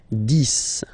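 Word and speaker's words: dix: okay okay so let's start now this okay so remember final x here is pronounced like s dis dis okay then okay so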